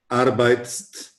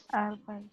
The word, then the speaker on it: arbeitest: So we don't say du arbeitst. It is not easy for the language to pronounce it.